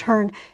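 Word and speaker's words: Cerne: up in England, because the Cern, or sometimes pronounced Hern, C-E-R-N-E, that giant, at one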